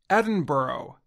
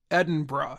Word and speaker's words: Edinburgh: dinosaurs and many people learned the correct way to say the capital city of Scotland during televised Memorial services for Britain's Queen Elizabeth II many people say Edinburgh but locals say Edinburgh after two years of